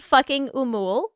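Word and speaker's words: Fucking Åmål: So I think it's pronounced fucking Umul.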